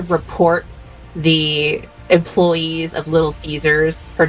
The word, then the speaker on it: Caesar: But yes, to to Chzure, hail glorious Caesar. I I heard that his name is actually supposed to be pronounced Kaiser though, but or it depends on which which